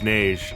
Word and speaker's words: Neige: speak with him is Neige. It's French, like every other damn name in this franchise, and yes, that's how you say it, that's how they say it even in the audio drama, do not fucking chowd me on this one.